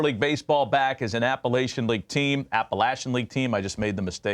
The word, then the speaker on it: Appalachian: Virginia was going to get back into the Appalachian leag and that's how you say it by